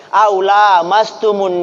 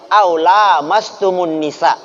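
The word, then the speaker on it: أو لامستم النساء: besar, dari buang hajat, aula mastumun nisa. Perhatikan cara baca saya, bukan aula mastumu, aula mastumun nisa, atau menyentuh perempuan.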